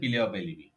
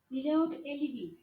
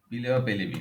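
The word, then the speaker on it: plea of alibi: এই যে অন্যত্র থাকার যে অজুহাত দিচ্ছেন আপনি, এটাই হচ্ছে পিলে অফ এলিবি। বোঝা গেছে? জি ভাই। উচ্চারণটা কি বলছি আমি, বলেন তো? পিলে অফ এলইডি। পিলে অফ এলিবি, হ্যাঁ। আচ্ছা, সাক্ষ্য আইনের কোন ধারায় অভিন্ন অভিপ্রায় সম্পর্কে বলা হয়েছে?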